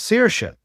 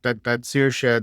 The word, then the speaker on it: Saoirse: complete mind that Saoirse, there's S with it's a seer, and then it's S as a sh. And you go, well, that's because the first S is broad and the second S is quail.